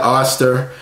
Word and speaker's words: Oster: that I had the Oster a lot of people ask me about that Oh stir as to how you pronounce it on the French door